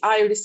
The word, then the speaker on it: Iris: My name is Iris, but it can be Iris, it can be Iris. It's a pretty international name, so wherever you are from, just pronounce it as you prefer.